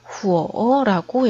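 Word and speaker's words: 火: 중국어로는 후어라고 읽어요. 자, 이렇게 한번 밑으로 내려갔다가 위로 올라가는 삼성의 성조를 가지고 있는데 소리도 마찬가지로 우어라고 내려갔다가 올라오게 발음해 주면 되겠습니다.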